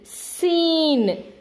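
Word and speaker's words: scene: If any word, if S and C are side by side at the beginning, then C will not be pronounced, only S will be pronounced. You can see seen, seen, signs, scent, scissors.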